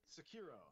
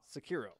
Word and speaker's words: Sekiro: How do you pronounce this thing? Sekiro. Sekiro. Just Sekiro.